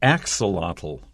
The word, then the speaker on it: axolotl: we go the axle the axolotl first syllable has the stress the axolotl a type